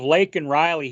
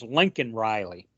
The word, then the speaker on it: Laken Riley: Yeah, instead of Laken Riley, he says Lincoln Riley.